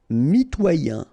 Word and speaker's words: mitoyen: Mitoyen. Okay, same thing with the Y that went here with effrayé and royal, sorry. So, mitoyen. Mitoyen.